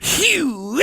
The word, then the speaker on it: Hugh: It wasn't Hubert or Huey. It was No. Hugh. Just Hugh. Ah. His mother was from Swedish descent. His father was English and German. You're supposed to pronounce it Hugh.